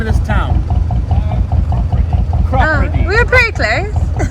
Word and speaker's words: Cropredy: Ask this person how you pronounce it. Hello, perfect timing. How do you say the name of this town? Chiropody.